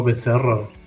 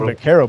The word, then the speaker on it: Becerro: I was saying Bacaro, but you said it way cooler.